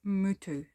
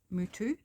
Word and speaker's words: Miyu: So in Japanese it's pronounced something, now excuse me butchering it because I probably am, something like mutu. That's as close as I can get, and it means beauty.